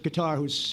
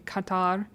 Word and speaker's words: Qatar: I'm liking that he's saying Qatar instead of Qatar, like these idiots were saying before, who were in office. I mean, it's little things, but bare minimum. Thanks for saying it correctly, I guess.